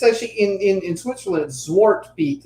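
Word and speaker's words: Zwarte Piet: Zwartpiet is how it's pronounced.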